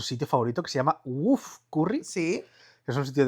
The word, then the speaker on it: Woof: favorito que se llama Woof Curry. Sí. Es un sitio de curry bastante chiquitito. Se escribe W-O-O-F Curry, o sea, como un ladrido.